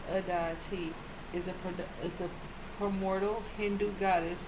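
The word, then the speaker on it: Aditi: opening you up mother of the endless universe pronounced adity is a hermodal Hindu goddess who appears often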